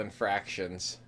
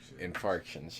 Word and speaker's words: infarction: god that's gonna be awful if I keep mispronouncing that myocardial infarctions more next time myocardial infractions infarctions yes angina hypertension peripheral vascular disease congestive heart